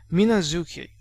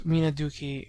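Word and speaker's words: みなづき: I've seen names such as Minazuki, which would read literally like Minaduki in Cana, but nobody says this. They should never be romanized as Minaduki and so forth because uh it's the zoo, it's the zoo sound that is heard.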